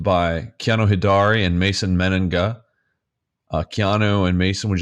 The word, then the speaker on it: Mennenga: it's pretty simple you just read it it's men Anda it's obvious I know it feels like the